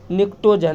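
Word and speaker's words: pnictogen: उसका जो हमारा N होता है मतलब नाइट्रोजन वाले फैमिली को हम लोग कहते हैं, P के साथ शुरू होता है लेकिन P साइलेंट होता है, निक्टोजन।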